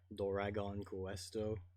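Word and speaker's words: ドラゴンクエスト: in transliterated english so in japanese you pronounce it like doragon questo yes as opposed to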